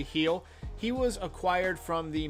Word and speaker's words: Gil: dominican republic luis heal it looks like it's spelled gill but it's actually he'll he was acquired from